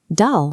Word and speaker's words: Dal: Dal must rhyme with pal or hal.